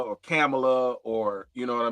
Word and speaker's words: Kamala: pronounce it, like Kamala, like with the C-O-M, like a calm, you know what I mean?